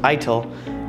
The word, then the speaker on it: ITIL: you google the definition of ITIL pronounced ITIL you'll probably end up